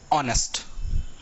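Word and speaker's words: honest: देखो जो एडजेक्टिव है, ये होता है ऑनेस्ट। ऐसा ही पढ़ा जाता है, एच साइलेंट है इसमें, ऑनेस्ट माने ईमानदार।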